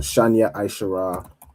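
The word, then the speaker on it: שתים עשרה: So Shanya Aishara Magan. Of course, Shanya Aishara is again how you say 12, right?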